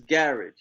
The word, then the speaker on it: garage: like all right see how we pronounce the word garage they say marriage the way they pronounce garage is garage oh they had a